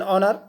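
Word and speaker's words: honour: से शुरू हुआ है, लेकिन एच साइलेंट है और साउंड आपकी बॉबिल की है। तो दैट्स वाई यहाँ पर एन प्रयोग हुआ है। एन और, एन ऑर्ली meeting, N आवर्स डे, एन ऑनर, एन ऑनरेरी post, N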